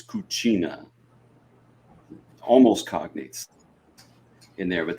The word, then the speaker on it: cucina: I think in Spanish it's Cocina, and in Italian it's Cucina.